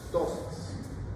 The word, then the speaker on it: ptosis: es tosis es tosis la p no se pronuncia tosis Qué significa do qué